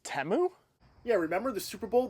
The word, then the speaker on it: Temu: kit so I guess it's time to do teus um hey spackman it's actually pronounced temu it's temu yeah remember the Super Bowl they corrected the